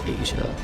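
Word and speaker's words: Aja: got Steely Dan's Asia but that's not spelled like a s I it's it's spelled a J a and it's still e Dan's Asia now here's a really long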